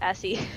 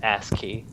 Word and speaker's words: ASCII: is it I see I was pronouncing Essie ASCII McGee and he's just it's ASCII though ASCII ASCII well it's a